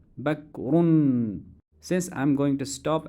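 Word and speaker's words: بكر: Ismi Bakrun. And if I stop at the end, I would say Ismi Bakr.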